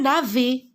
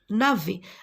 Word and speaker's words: navet: Alors, le titre de ce texte, le gros navet. Alors, regardez, la lettre S et la lettre T, je ne la prononce pas. Ce sont des lettres muettes, d'accord?